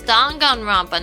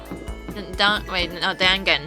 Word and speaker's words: Danganronpa: It's Danganronpa, not Dangan.